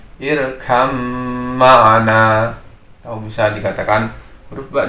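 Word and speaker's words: ارْكَب مَعَنَا: Harusnya terbaca irkab ma'ana, tapi itu salah dalam pembacaan hukum idgham mutajanisain. Karena menjadi hukum idgham maka ba masuk dalam mim sehingga bacanya irkam ma'ana.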